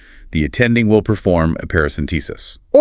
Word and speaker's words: paracentesis: Perhaps a paracentesis. Pronounced parouscentesis. Five syllables, stress on the T.